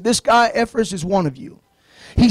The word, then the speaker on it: Epaphras: Maybe some of you folks can pronounce it. I can. Epaphras.